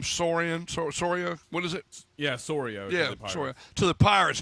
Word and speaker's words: Soria: They've traded Price to Toronto, Cespedes to the Mets, and how do you pronounce the reliever's name? Soria? What is it? Yeah, Soria.